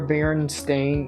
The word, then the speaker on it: Berenstain: Is this the one where Berenstain is pronounced correctly?